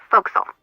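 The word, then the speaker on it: forecastle: ship but it's pronounced fil why is that try pronouncing it like an English sailor with no formal education F Castle fil overtime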